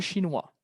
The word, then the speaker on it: chinois: Se escribe igual. Ils sont chinois. Pronunciación idéntica. ¿Por qué? Porque la S muda.